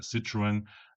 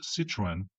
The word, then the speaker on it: Citroën: If Miss Athetherton had any understanding of French, then she wouldn't pronounce Citroen like the French word for lemon. Citron. Citroen and Citroron are pronounced in very different ways, but it wasn't images